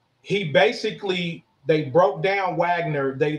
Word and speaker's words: Wagner: the head of this paramilitary group called Wagner it's spelled Mike Wagner but it's called Wagner and what he did